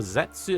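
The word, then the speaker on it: Zeztz: But yeah, Anarchizer, the first forms and henshin sounds for Zetsu have been revealed. This also includes a pronunciation. It's supposed to be Zets, like the letter itself.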